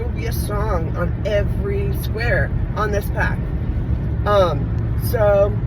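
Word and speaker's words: Yves: everybody calls him like Yebs or whatever. The S is silent. His name sounds like the girl's name Eve.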